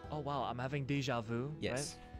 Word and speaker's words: déjà vu: You guys know, like, when you say, "Oh wow, I'm having déjà vu," yes.